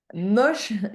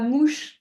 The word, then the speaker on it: moche: il est comment moche moche et pas mouche attention quand tu prononces moche moche B toute façon